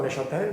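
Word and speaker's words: Neuchâtel: Nato a Noshatel. Nato a Neshatel.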